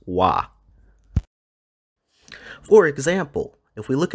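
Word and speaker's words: は: subject of a sentence we actually do not write this particle with our hiragana wa we use the hiragana ha to write this particle so every time the particle y is used we're going to write the hiragana ha but we're going to read it as wah for example if we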